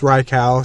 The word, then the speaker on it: Raikou: it's technically pronounced as we'll go with rikow since I think that's how it's technically pronounced so the thing is within